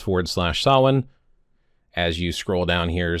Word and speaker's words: Samhain: But what we have here, specifically pointing out again, Samhain, a Gaelic word pronounced sah-win, is a pagan religious festival originating from an ancient Celtic spiritual tradition.